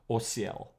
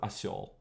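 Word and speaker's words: осёл: So now we have an interesting one, which during this period would have been pronounced as osiel, right? Instead of asiol in modern Russian, and that would be a donkey.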